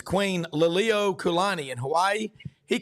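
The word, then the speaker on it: Liliuokalani: He just butchered pronunciations. Queen Lilio Kulani in Hawaii, he called her Queen Leo Kakalani.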